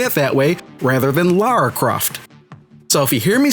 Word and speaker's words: Lara Croft: Now, some people have an issue when her name is pronounced Laura Croft, but to those people, you got to understand that Lara is not a common name in the United States.